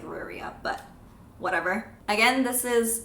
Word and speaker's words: Riyria: I don't like how it's Rhaenyra. It doesn't look like it's supposed to be pronounced Rhaenyra. It looks like Ruria, but whatever.